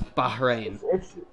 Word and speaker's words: Bahrain: It's just really difficult to get the H in, because that is the actual pronunciation of the country is Bahrain.